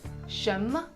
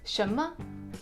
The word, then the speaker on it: 什么: Chinese it's tion-tion-tion ma so a second tone plus the neutral tone what shimmer what shimmer the third tone is